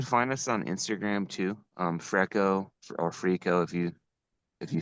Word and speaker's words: Freeco: as Greco and freestyle, so we combined the name Freco. It's spelled Freeco. We kind of had a legal threat about namesake, so we added another E. It used to be one E, but it's Freco, Freestyle Greco.